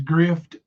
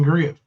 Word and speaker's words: grift: big words Gypsy um such as grift pronounce it right you're saying Griff like your favorite Creator there